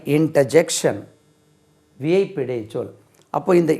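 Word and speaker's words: interjection: இன்டர்ஜெக்ஷன், ஐ இன்டர்ஜெக்ஷன், INTER ஜங்ஷன் சொல்லக்கூடாது, ஜெக்ஷன், JECTION.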